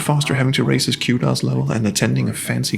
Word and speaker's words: Qdos: a social media guru to earn the necessary kudos points to attend? And can we please come to a consensus on how to pronounce kudos?